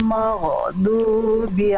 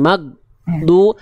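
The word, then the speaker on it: مغضوب: Jangan magdu, tapi maghdubi. Ghairil maghdubi. Sedikit lagi, bagus. Ikut saya lagi. Ghairil maghdubi.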